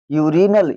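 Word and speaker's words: urinal: इसी प्रकार देखो इसमें भी आर के बाद में क्या आ रहा है? आई आ रहा है। क्या हो जाएगा? यूरिनल।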